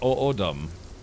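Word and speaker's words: O'odham: So it's pronounced O'odum.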